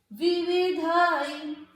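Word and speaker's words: विविधैः: विविधाई, देखो विवि, ये क्या है? ध पे है ऐ की मात्रा, तो इसको क्या पढ़ा जाएगा? धई, धई, विविधई, ठीक है।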